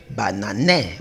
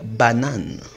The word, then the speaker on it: banane: Mais je ne vais pas lire banané parce que la règle d'or me dit le E à la fin d'une syllabe ne se prononce pas. Sa prononciation est muette. Donc je vais lire banane.